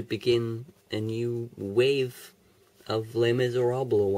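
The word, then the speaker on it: Les Misérables: a new wave of Les Miserables on videos yes that is how you pronounce it I feel as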